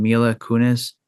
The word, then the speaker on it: Mila Kunis: How do you pronounce his wife's name? Mila Kunis.